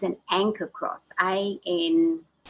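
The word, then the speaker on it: ankh: to okay a n it's it's pronounced anchor but i i know it i'm sure it's a n k h or a yeah i'm pretty sure it's amkh so just go and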